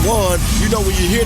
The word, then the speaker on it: Juan: Not hard at all, especially when you hear the name Juan Manuel Marquez. You know that means trouble as soon as the J part comes out. Although it's pronounced with a W as in Juan, you know when you hear that, that means war.